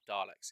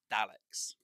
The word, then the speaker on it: Daleks: the old version and now everyone says dialects it's not Daleks it's Daleks you know if you've read the writing and you hear them say it for the first time it's Daleks not Daleks which is absolutely hilarious